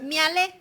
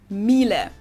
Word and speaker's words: Miele: And it's not exactly pronounced wrong in English, Miele. but English native speakers usually say something like Miele, Mila. So it usually sounds more like an A in the end, whereas in German we say Miele.